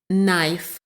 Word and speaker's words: knife: key key King King sometimes the letter K is silent and has no sound knife knife night night the